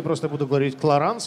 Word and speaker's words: Clarins: теперь буду бить и кларенс тоже чтобы заполнить надолго миль на произносится если бы это был американский бренд но так как кларанс бренд французский то немножечко по-другому сожалению к сожалению французский